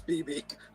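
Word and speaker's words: Bebe: But are we gonna ignore that Babe Newworth showed up in this movie? BB Newworth. The first one? It's BB Newworth. Is it BB Newworth? It's BB. That's how you pronounce it.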